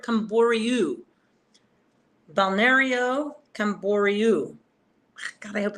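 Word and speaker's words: Camboriú: so I won't be close to koru because it's R IU at the end and bernero bario is like Rio at the end R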